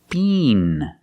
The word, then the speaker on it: bean: And the next word is bean, with a long E sound.